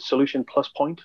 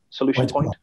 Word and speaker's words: Solution Point: Do we pronounce it Solution Plus Point, Joe? Solution Point.